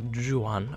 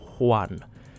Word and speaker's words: Juan: I'll take them and it's actually not Joo Han I apologize it's one because Spanish people pronounce J as H sometimes I'm not sure when but it's not yuan it's one that's that's the thing I